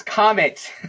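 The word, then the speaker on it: qamets: It's comet. Not gamut. It's comet.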